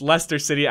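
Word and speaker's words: Leicester: the last match against Lester City I know how to pronounce it now guys after you guys corrected me last episode so we go into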